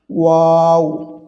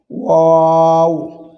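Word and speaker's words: واو: ওয়াও হরফটি দুই ঠোঁট একটু গোল করে এটি উচ্চারণ করতে হয়। এটি খুবই সহজ, কঠিন নয়। ওয়াও, ওয়াও।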